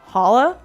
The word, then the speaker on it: challah: is it yeah what do you know what challah it's spelled c-h-a-l-l-a-h breakfast yeah it's it's Hollow breakfast